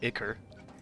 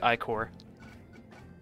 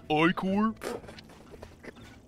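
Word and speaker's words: ichor: to do with liquor not icker also it's pronounced icore it's pronounced oicor okay luckily the uh jellyfish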